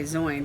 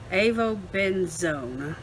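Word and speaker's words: avobenzone: benzo zone able benzoin i want to say zoin but it's zone avo benzone there we go homosalate octa-salate and octokrylane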